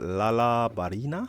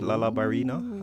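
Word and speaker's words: Lala Barina: um but laala Barina I think it's always pronounced laala Barina uh which is like a a dancing spider that looks like FL I guess that's where where the the Barina should have been ballerina laal La ballerina yeah um but yeah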